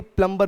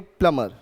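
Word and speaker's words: plumber: Follow करते हैं उसमें जब भी एम के पीछे बी आता है तो बी साइलेंट होता है। जैसे कि हुमायूं टूम्ब नहीं टूम, जैसे कि थंब नहीं थम, जैसे कि क्लाइंब नहीं क्लाइम, वैसे ही प्लम्बर नहीं प्लमर।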